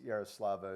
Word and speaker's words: Yaroslava: did I know she was, I'm terrible at pronouncing Ukrainian names, but I know it's Yaroslava, and she won the gold medal in the high jump in the Paris Olympics.